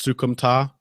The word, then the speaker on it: Soukhamthath: be a fucking nightmare if it was actually pronounced THTH. Yeah. They said it that way in CES, so it's Soukhamthath. Yeah. Okay. All right. That's what we'll go with. Soukhamthath, good pickup for the bantamweight division.